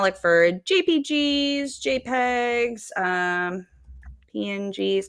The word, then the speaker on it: PNG: And I'm going to look for JPGs, JPEGs, um, PNGs, not pings, PNGs.